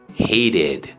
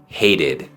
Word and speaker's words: hated: el verbo base hate termina en t Así que el sonido de la Ed va a sonar como Ed hated hated obviamente siempre pueden haber